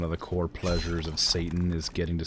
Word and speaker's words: seitan: Did I say satay? Whatever. Seitan. Today you crumbed and fried it. Satan. It's pronounced Satan. Satin? Satan. Like the devil.